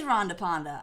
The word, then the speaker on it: Rhonda Panda: The A is short, and it is Rhonda Panda.